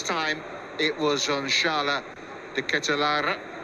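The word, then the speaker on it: De Ketelaere: This time, it was on Charles De Ketelara, who I went online and heard him pronounce that himself. So I promise you that is the way he says his name.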